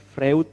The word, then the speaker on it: Freud: Tulisannya Freud, tapi bacanya Freud.